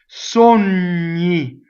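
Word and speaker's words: sogni: like the fruit pain Sony again Yi right so it's n plus y I me right you should get itchy when you say it a bunch of times Sony there's the word a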